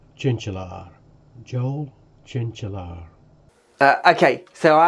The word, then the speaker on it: Tjintjelaar: Hi Ben, it's pronounced Tjintjelaar.